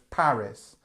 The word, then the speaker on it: Paris: just I'm going to pick up on the a sound here so Paris okay um it's it's this a sound it's quite a strong a um she has visited